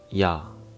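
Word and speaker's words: ㅑ: Next one is ya. Sounds like ya in yard. Yard. Ya. Ya. But there is one tip. Korean vowels are short and quick. It's kind of like the pali culture, even in pronunciation. But in English, vowels tend to stretch out, like yard goes yard. But in Korean, it's short and clean, just ya, ya.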